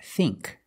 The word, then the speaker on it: think: a short I now let's look at the combination of I and K like think we use the long e sound think other words sink and